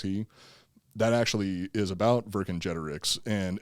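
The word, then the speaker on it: Vercingetorix: oh yeah yeah and that's also why i pronounce uh verse in generics is the way that i've always heard the pr the name pronounced that's how i have yeah but it is technically virgin generics okay which by the way uh this is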